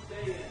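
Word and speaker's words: Daein: Dan. Like Dan, Okay. I figured it out.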